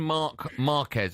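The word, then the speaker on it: Marc Márquez: I mentioned Marc Marquez. I hope that's how I pronounce his name. Yeah, absolutely right.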